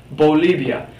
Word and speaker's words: Bolivia: Again, another Spanish-speaking in South America, Bolivia. Really important to note that both of these letters here, the B and the V, the B and V in Espanol, are pronounced exactly the same.